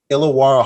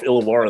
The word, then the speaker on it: Illawarra: I think with the illawarra Hawks does that sound right am I saying it right you're saying it perfect actually I'm really impressed that someone from America could pull off illawarra the first time that's